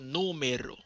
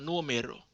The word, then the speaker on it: número: Se me perdió tu número. Se me perdió tu número. Se me perdió tu número. Se me perdió tu número. Rappelez-nous. Pinganti tu numéro. Faut nous accentuer sur premier syllabe.